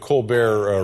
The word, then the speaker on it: Colbert: And how are things on the Colbert report? Are we still calling it the Colbert report? Or yeah, we have not found the pronunciation of that T yet.